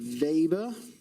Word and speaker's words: Weber: And the unit is the Weber. I might think that says Weber, but it's pronounced Weber.